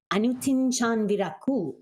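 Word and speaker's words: Anutin Charnvirakul: How do you actually pronounce his name? Anutin Chan Miracle. Anutin Chan Virakul.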